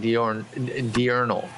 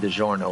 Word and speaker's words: Diurnal: You're getting a little heat in chat for Diurnal, you're basically saying, instead of Diurnal with the L at the end. Now they're saying that you're calling him DiGiorno, like the pizza.